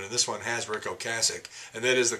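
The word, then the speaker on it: Ocasek: with todd rundgren and this one has rick o'cassick and that is the correct pronunciation by the way a lot of people say oh kasich and they're wrong we have paul and apart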